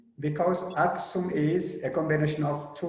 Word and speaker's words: Aksum: The second comment is Professor Rajmal has explained about Aksum, not Axum, but Aksum, because Aksum is a combination of two words.